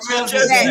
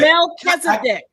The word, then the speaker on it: Melchizedek: You don't have a good pronunciation, so I can. It's Melchizedek. Melchizedek.